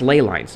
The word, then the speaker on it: ley line: So the lines, the borders between the maps, I call them they're actually pronounced ley lines, by the way. I found out recently that I've been mispronouncing it. It's actually ley lines.